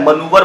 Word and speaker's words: manoeuvre: Obviously मनूवर की spelling देख लो कितनी क्लोज है, मनूवर पढ़ते हैं इसको, ठीक है।